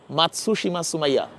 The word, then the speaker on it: মাতসুশিমা সুমাইয়া: সুমাইয়া, প্রথমেই আমি যে নামটা উচ্চারণ করলাম মাতসুশিমা সুমাইয়া, ঠিক ছিল উচ্চারণ? ঠিক আছে।